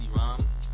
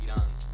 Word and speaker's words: Iram: So it's Iram. Iram. And in Spanish it's Iran. So a lot of people mispronounce it.